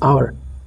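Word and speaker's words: hour: সুতরাং নেক্সট পরেরটা দেখুন, এখানে কিন্তু সেম একই জিনিস, আওয়ার মানে ঘন্টা, কিন্তু এখানে এইচ যে অক্ষরটি রয়েছে এটা কিন্তু সাইলেন্ট, আওয়ার, এইচের উচ্চারণ কোথাও হচ্ছে না, বুঝতেই পারছেন।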